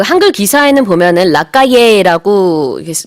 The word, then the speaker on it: Lacalle: 그리고 이제 그 한글 기사에는 보면은 라카예라고 그 이름이 쓰여 있습니다만 제가 그 미국 뉴스를 여러 개 이제 찾아서 봤는데 거기서는 다 라카슈라고 발음을 하더라고요.